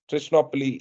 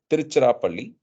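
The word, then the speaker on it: Tiruchirappalli: until they reached trichnopli trichnopoly is the western or British pronunciation and spelling for tiruchirapalli I'm sure has a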